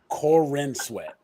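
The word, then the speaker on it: Corenswet: main guy is David Corn sweat cor corn sweat cor corn sweat Corin Sweat Right you gotta look it up to make sure I'm pronounced right Corin sweat that's what it said David Corin sweat he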